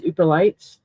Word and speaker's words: Yooperlites: One of the rocks Flutter does find is Ooperlites. It's spelled Yooperlites.